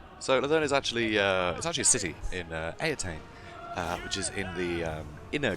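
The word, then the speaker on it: Eataine: which the current Phoenix King comes a attain pronounced a attain you know something pressing greatly is considered first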